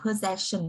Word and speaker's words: possession: Cái này đọc là possession đúng không ạ? Mặc dù có double S nhưng mà nó phát âm là âm z.